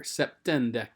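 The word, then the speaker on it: septendecim: septem notice the m has changed to an n here septendecum and that's just the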